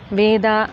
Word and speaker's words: Veda: Shwa syncope, which is dropping the short vowel or the Hrasva Akara at the end of a word. It is written as Veda, Shastra, Rama, but pronounced as Ved, Shastra, Ram.